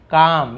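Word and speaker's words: calm: You need to remain काम, ये काल्म नहीं, एल साइलेंट होता है, लेकिन लिखेंगे जरूर, लेकिन पढ़ेंगे काम, काल्म नहीं पढ़ेंगे।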